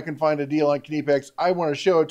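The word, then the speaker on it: Knipex: keep going we got knee packs kidney packs kidney someone's always gonna try to correct my pronunciations it's kidney pecks okay you do pronounce the k anyway anytime I can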